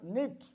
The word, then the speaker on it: knit: have knife we have knit in all the words k is there but k is silent k is silent we